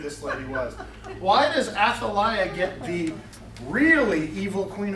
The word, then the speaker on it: Athaliah: The name is pronounced, do this way, Athaliah. Athaliah. Yep. sounds a lot like Athaliah, but it is Athaliah.